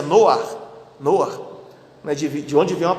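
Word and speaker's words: נֹחַ: Um bebê, o filho do casal Samuel e Vanessa, que tem o nome exatamente de Noa, que é o nome hebraico, a pronúncia hebraica do nome Noé, né?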